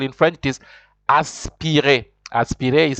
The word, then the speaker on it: aspiré: It is aspiré. Aspiré is spelled ASPIRE. with an accent on top, because you know always in French, whenever there's no accent on the E, that the E is never pronounced, but when there's an accent you pronounce it.